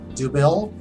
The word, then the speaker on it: Dubbel: Monkless Brewing, Bend, Oregon, Belgian Ale, Dubbel or nothing is actually how it's said, but it looks like double or nothing.